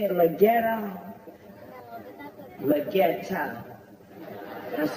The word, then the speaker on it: Leggero: Leggero.